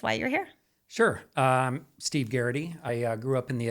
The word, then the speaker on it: Garraty: So I have Steve Garraty, correct?